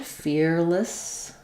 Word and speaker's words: fearlessly: So the first um first vowel is ear like in my ear or um or shear. Um and then I would even write it with no vowel in this middle syllable. Fearless. Fearless. If I were going to use any vowel there, I would use an I.